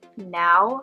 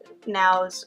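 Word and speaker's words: NAO: There was one robot they used called Now. I think that's how you say it. It's spelled N-A-O, which is an interactive humanoid robot.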